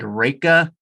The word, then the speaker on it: Riecke: name is Riecke, and we pronounce it Ricky, which actually is completely wrong. It's German descent, and when I talk to some German people, they've corrected it. And to be honest, I don't even really know how to pronounce it, but we just go with Ricky, isn't it?